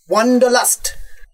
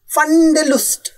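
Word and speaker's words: Wanderlust: ওই ওয়ান্ডারলাস্ট। হ্যাঁ, কিন্তু তোমার মতো উচ্চারণ করেননি। ফান্ডেলুস্ট, এই তো কথাটা ইংরেজিতেও ব্যবহার হয়, আর যখন হয় তখন ইংরেজিতেই উচ্চারণ হয়।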